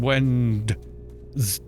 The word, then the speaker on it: Wednesday: So Wednesday was Wendel's Day, and then it became Wednesday, and then they left the D in the written word but just decided that nobody needed to pronounce the D anymore.